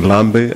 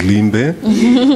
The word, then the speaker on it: Limbe: So each time you kept on pronouncing Lambe, I was, okay, this is Limbe.